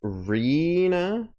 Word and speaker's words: Rena: In your Discord, it is written, pronounced Rena. I was saying like arena.